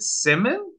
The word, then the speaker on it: CIMIM: conjured up here uh how how do you pronounce the uh is it Simon yes yes Simon um it's a there's there's